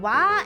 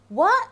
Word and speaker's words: は: two main functions of wa and four main functions of ga okay is written as ha but when you use it as a particle then you have to pronounce it as what is called